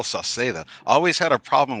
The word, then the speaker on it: Sauceda: I say Sunny Cicada because everybody messes it up. So I always say Sunny Cicada, Sunny Sauceda, in Sauceda.